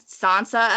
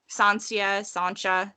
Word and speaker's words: Sancha: Joffrey is actually directly pulled from the younger brother, not a son, Joffrey Borgia, who married Sansa of Aragon. Sancha, depending on which pronunciation and who is translating.